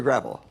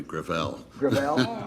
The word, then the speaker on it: Gravel: next witness uh Senator gravel with all due respect let me correct I pronounce it within my family grael grael it's a French name thank you uh I